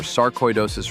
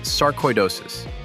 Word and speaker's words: sarcoidosis: It's sarcoidosis, not sarcoidosis. Sarcoidosis. Koi, like the fish.